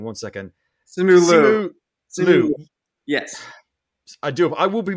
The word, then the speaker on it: Simu Liu: Simu Liu. Yes. I will be mispronouncing a ton of names today.